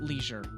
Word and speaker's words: leisure: You can't say pleasure without leisure. Pleasure? Oh, I see. Pleasure without leisure. That's right. Across the pond, they pronounce it leisure, not leisure.